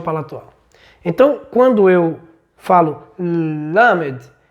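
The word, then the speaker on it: למד: usar como abordagem é lamed. Led, veja que para pronunciar a palavra lamed língua dental e língua palatual superior, né? Então, a língua vai colar no pálato ou no palato duro, ó.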